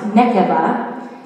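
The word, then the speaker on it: נקבה: The Hebrew meaning for woman is pronounced nekeva.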